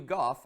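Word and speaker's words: Gough: for the British Sir Hugh Goff and I realized I was pronouncing that incorrectly before so thank you for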